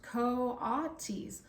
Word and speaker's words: coatis: pigs or raccoony dogs these are Katis Miss Barnes ban said reading from the letter pronounced Coes the coatis looked weird